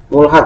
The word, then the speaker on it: mulhaq: Ini bacanya mulhaq, ya, bacanya mulhaq dari keduanya.